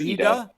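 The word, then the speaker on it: Y'da: So I mained Yda early on. or Yda or Yda. Somebody tell me what's the actual pronunciation of It's the Yda. character? It's Yda.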